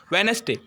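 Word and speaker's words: Wednesday: silent next example பாருங்க வெனஸ்டே வெனஸ்டேல டி என்னதும்மா D silent சரிங்களா டி சைலெண்ட்ல இருக்கு நான் என்ன வாசிக்கிறேன் வெனஸ்டே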